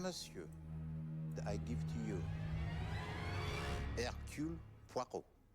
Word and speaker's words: Hercule Poirot: Mesdames, Messieurs, I give to you Hercule Poirot. That's how you pronounce it, see?